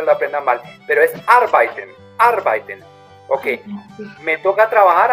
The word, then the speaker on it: arbeiten: Ich muss bis abends arbeiten quiere decir, cuidado con la pronunciación de arbeiten, ¿no? Ich muss arbeiten, no arbeiten. casi todos los extranjeros, casi todos los extranjeros dicen arbeiten, arbeiten, y no es correcto.